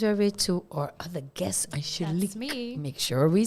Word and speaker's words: Angelique: And then it goes over to our other guest, Angelique. That's me. Make sure we say it correctly. Angelique.